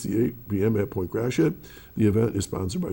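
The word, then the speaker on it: Gratiot: If you go to Point G R A T I O T, it's not Point Grassy Graat, it's Grassit.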